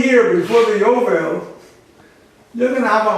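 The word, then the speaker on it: יובל: In Hebrew it's Yovel. Y is the J.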